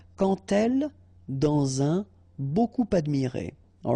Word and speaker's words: quand: So like that, quand elle. All right, same rule here. Remember, when you will have this D, you will phonetically pronounce it like T. Quand elle, dans un, okay, in